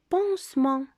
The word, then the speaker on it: pansement: Pansement. Pansement. Le T, c'est une lettre muette.